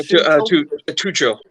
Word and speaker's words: Tuchel: Is that how you say his name? Yeah, Tuchel. There you go. That's too cool, yeah.